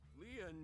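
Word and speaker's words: lien: your side that's it leon is spelled l-i-e-n in french leon means bond just like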